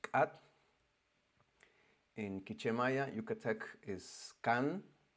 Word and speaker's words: K'at: It's pronounced Kat.